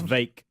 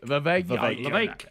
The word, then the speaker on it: Vivek: It's Vake. The Vake. Like cake. Rhymes with cake. Vivek.